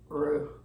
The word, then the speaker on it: roux: little bit of flour to make a lovely roux.